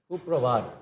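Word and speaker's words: সুপ্ৰভাত: Give us the right pronunciation. Suprabhat.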